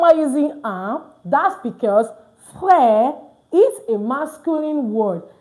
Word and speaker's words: frère: So you can see now, I said frère, not frère. Why? Because this E is also not pronounced at the end of a word most times in French. All right?